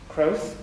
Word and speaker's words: Krauss: Rosalind Krauss, ça fait très allemand, prononcé à la française, Krauss, dans son texte pour